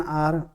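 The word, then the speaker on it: hour: अगर हम देखें तो इसका जो प्रोनाउंसिएशन है वो आर होता है। एंच जो है इसमें यहाँ पर साइलेंट रहता है, यानी कि एंच को हम बोलते नहीं हैं।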